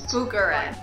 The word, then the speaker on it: Bucharest: I get to a new place, since my pronunciation is terrible, Bucharest. I look up how to say the city we're in. Bucharest.